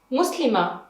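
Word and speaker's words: مسلمة: Kura, muslima. In bait, we pronounce the taa, bait. But in kura and muslima, it's just like ha.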